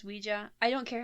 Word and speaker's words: Ouija: and we did uh i say ouija because i swear i heard that somewhere that it's pronounced ouija i don't care how